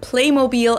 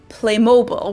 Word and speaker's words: Playmobil: did it with T-Mobile, they kept the German pronunciation of it for the American market too. In the US commercials, they call it Playmobil as well, even though in everyday life, I've also heard Americans pronounce it as Playmobil, which sounds very different and somewhat wrong.